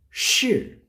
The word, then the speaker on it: 是: time so wondersh shhh if i give the pronunciation fourth tone for that one the pronunciation for this pinyin together will be shi shi in chinese she